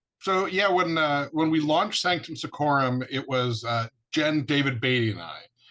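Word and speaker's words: Sanctum Secorum: Now, I've listened to Sanctum Seccorum. I can never say it right. Say it. Sanctum Seccorum.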